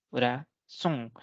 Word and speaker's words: corazón: Por ejemplo, la palabra corazón, la última tiene 3 sílabas, corazón. y la última sílaba termina en una N, por lo tanto va a tildarse.